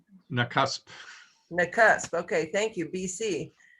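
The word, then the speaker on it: Nakusp: knock-ups how do you say it it's it's nakasp mccusk okay thank you bc and he is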